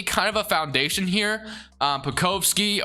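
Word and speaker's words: Pokuševski: Pokovsky, or however you say, Pokoshevsky is I think how you say his name.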